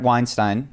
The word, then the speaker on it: Weinstein: about is so Brett Weinstein, we got it correct on the last podcast. That's how you say his name. Like Einstein with a W.